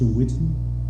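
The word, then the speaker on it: Whitten: what's your name against her my last name is spelled w-h-i-t-t-e-n my first name is George I reside in Greenwood is in Mr Whitton correct all right thank you so much for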